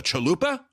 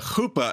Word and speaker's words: chuppah: Now that's spelled Chuppah. Chuppah, the chuppah. A lot of people look at it and say the chalupa. No, that's from Taco Bell. This is the chuppah.